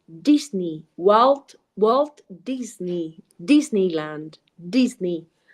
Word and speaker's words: Disney: Pero bueno, la influencia de nuestra lengua materna pues hace que esa E la pronunciemos muy como es, E. But of course in English is E, it's E, so it's Disney in this particular case.